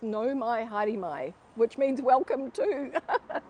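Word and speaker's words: Nau mai: it is it says no my haremai which means welcome to so it means welcome to the flagship no my hadimai like yeah yeah yeah so the au is pronounced oh no my hair my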